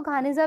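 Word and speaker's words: Geniza: अब द आपका, अब ज्ञानीजा को घानीजा भी बोलते हैं, प्रोनाउंसिएशन जो इसका है।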